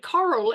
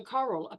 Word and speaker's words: Coral: to spell it, and it sounds different to Carol. So, I Never mean, know. I've had Carol, Caroline, Cheryl. How hard is it to remember Coral, particularly once you've seen me and oh God, that's Coral. Yeah, you can't You know, forget Coral. yeah, how do you get it? Yeah, rhymes with quarrel.